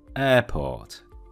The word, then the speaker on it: airport: A mianowicie wymowę słówka lotnisko, czyli airport. Airport. Umówmy się, tam nie ma air, tam nie ma air. Airport. Troszeczkę przedłużam to e, żebyście bardziej zwrócili na to uwagę.